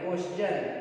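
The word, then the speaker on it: question: यहाँ पर देखिए यस के बाद जो है टी आई ओ एन आता है, आ रहा है, तो इसलिए इसको हम लोग क्या पढ़ेंगे च पढ़ेंगे। क्वेश्चन, क्या हो गया क्वेश्चन,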